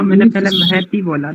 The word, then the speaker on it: महति: जी बहुत सुंदर, शोभनम, एकदम बढ़िया है आपका उच्चारण। आचार्य जी, महती बोलना है या महती बोलना है?